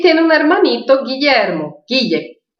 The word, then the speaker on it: Guille: Guille. No argentinês fala Guiche. El hermanito Guiche.